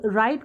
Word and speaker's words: write: When we read W in column 3 it has no sound। जब हमने wrinkle, wriggle, write को पढ़ा तो हमने